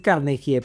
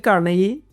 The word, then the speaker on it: Carnegie: Sí, en español se podría decir Carnegie, pero es Dale Carnegie, que es un gringo.